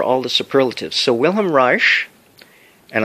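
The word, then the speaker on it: Reich: the superlatives so wilham R and I'm I'm pronouncing it properly but the spelling from the German is re e i c h willhelm r he died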